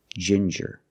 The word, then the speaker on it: ginger: With ginger, we use the J sound, like juice and jump, j, and the regular N, ginger.